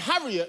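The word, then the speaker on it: Harriott: Now, my name right, is Darren Harriet, and Harriet is spelled H A R I O T.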